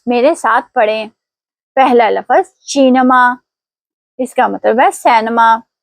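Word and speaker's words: cinema: پہلا لفظ چینما, اس کا مطلب ہے سینما. دھیان دیں یہاں شی کے بعد ای آیا ہے اس لیے ہم اسے چینما پڑھیں گے نہ کہ کینما.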